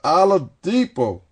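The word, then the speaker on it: Oladipo: right this boy with this New Orleans accent pronounced it right Victor alipo guess what he was a co- big player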